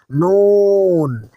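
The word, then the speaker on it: نون: এবার নুনের মাখরাজ হলো জিহ্বার আগা তার বরাবর উপরের তালুর সাথে লাগবে, তার বরাবর উপরের তালুর সাথে লাগবে। এটি উচ্চারণের সময় হালকা একটু গুন্না বা নাকের বাসিতে আওয়াজ যায়, তবে হরফটি পড়ার সময় স্পষ্ট করে বলতে হবে।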